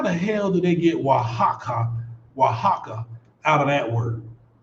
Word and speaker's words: Oaxaca: i don't how the hell do they get wahaka oaxaca out of that word you know what